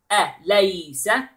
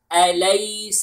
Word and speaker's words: أَلَيْسَ: أَلَيْسَ. All the letters are light. And then the name of Allah is heavy. Okay? Except the ha letter in the end. So we pronounce it like that. أَلَيْسَ اللَّهُ.